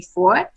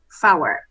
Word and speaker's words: four: real life, I think most pilots and most air traffic controllers say for, but the correct phraseology should be four. Okay, that should be the correct pronunciation. I think in real life, most people say for, but instead of saying for, to avoid a miscommunication between the preposition for and the number four, we say four for the number, so